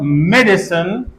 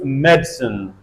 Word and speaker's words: medicine: syllable has me so we can alide this a and instead of medicine we can pronounce medicine medicine and these Illusions appear